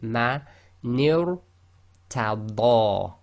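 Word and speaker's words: مَنِ ارْتَدَىٰ: So you've got to go ni, which is empty mouth, light, to ra, which is heavy tafkhim. So ma nir tada.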